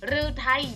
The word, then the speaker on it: ฤทัย: 1 คัน ที่ 1 อ่าน ว่า หา รือ ไทย ฤทัย แปล ว่า หัว ใจ